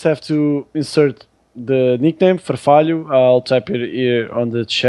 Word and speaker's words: Farfalho: On the GT Tribe, you just have to insert the nickname Farfalho. I'll type it here on the chat on Twitch. Because of the H, it's a bit tricky for non-Latin speakers to pronounce it.